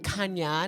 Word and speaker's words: Khanya: y a I know everybody's like isn't a Kan no so I'll pronounce it Kanya 91 so that it's EAS everybody to get